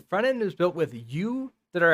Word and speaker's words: Yew: end is built with you that are s which has to be like super specific with my pronunciation because there's view too so u y e w is a front-end framework